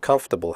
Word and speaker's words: comfortable: we say debt comfortable the word comfortable has three syllables not for the o.r